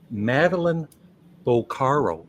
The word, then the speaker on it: Madeline Bocaro: this book The Infinite Universe of Yoko Ono meline boaro that's how you pronounce it right I did it right thank